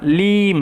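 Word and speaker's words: limb: না with this লিম এখানে be silent B এর উচ্চারণ হয় না লিম এরকম ভাবে লিম নয়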